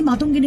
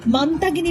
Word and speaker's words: মাতঙ্গিনী: তৃণমূলের কটাক্ষ দেশের রাষ্ট্রপতি প্রধানমন্ত্রীর উপস্থিতিতে মাতঙ্গিনী হাজরার নাম বিকৃত করে মান্তাগিনী বলা বাঙালির আবেগে সরাসরি আঘাত করার সমান।